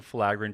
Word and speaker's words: filaggrin: But the fact is, certain genes like the filaggrin gene, which, Jose, did you look it up how to say it?